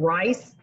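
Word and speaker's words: Ryse: um and i don't it's spelled r-y-s-e and i don't know how you pronounce it rice and apparently they do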